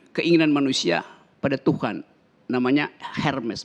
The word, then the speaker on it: Hermes: Namanya Hermes. Bacanya Hermes yang sekarang jadi tas merek mahal.